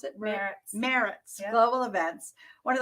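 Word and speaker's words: Maritz: Is that how you pronounce it? Meritz yep.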